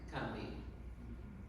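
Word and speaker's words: Combahee: And people of the region pronounce the river in the same way, Cumbie.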